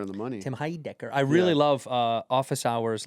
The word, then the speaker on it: Heidecker: Well, the name pronunciation was right on the money. Tim Heidecker.